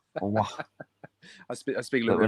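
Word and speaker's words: Aouar: That's how you pronounce it, people. Awa. Awa.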